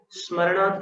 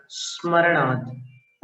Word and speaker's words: स्मरणात्: स्मरणात् का उच्चारण देखिएगा, कुछ प्रांतों में स्मरण बोलते हैं, तो उसको ई न लगा करके स के स्थान पर अपनी जीभ को अवस्थित करके स्मरणात् ऐसा बोलना है।